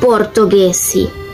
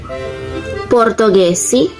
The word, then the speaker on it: portoghesi: Por ejemplo, ghiaccio y portoghesi. Ese es el sonido similar al español, pero miren que se escribe con G, H.